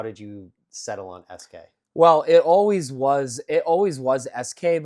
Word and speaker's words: Eskay: Okay, Special K is SK, ESK, and then let me just like phonetically spell out the whole thing. So ESKAY.